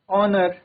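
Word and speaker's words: honour: Words beginning with the mute H take an नॉट अ। तो जहां पर H mute रहता है उनके साथ आर्टिकल एन आएगा। ना ही कि हम आर्टिकल अ का यूज़ करेंगे। For example year honest ऑनर आर ऑनरेरी ऑनेरेरियम ठीक है ये वर्ड्स क्या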